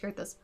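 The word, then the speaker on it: Coerthas: Gotta remember it's pronounced Kurthus.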